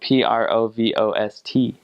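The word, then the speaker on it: Provost: converts actually interesting fact provo is a French word and it was originally spelled PR o V OST and but it's pronounced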